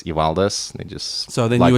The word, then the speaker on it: Evaldas: So, for example, my first name, the Lithuanian way to pronounce it is Evaldas, and yet that's not as easy for people as Evaldas.